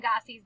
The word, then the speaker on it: Gossie: 2 syllables in Gossie's name. Now we're going to name the letters. G-O-S-S-I-E. And we're going to study it very closely. I notice it has a g sound at the very beginning, and it has that capital G.